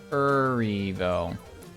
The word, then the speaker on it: Erivo: Erivo.